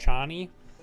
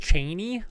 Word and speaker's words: Chani: Paula trades love interest Shawnee apparently Frank Herbert intended to be pronounced Cheney like Dick Cheney um and I've heard